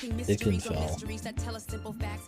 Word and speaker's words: Ikenfell: They said Ikenfell. I've been saying it wrong this whole time.